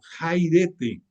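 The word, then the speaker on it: χαίρετε: el lenguaje griego la se pronuncia como jairete o jairete o jairete, como quieras tú decirle, es la palabra que equivale a salve.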